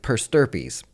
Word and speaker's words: per stirpes: is a financial word it rhymes with herpes Eric the financial word of the day is per sturpees what in the world is weird does purse derpies mean I know the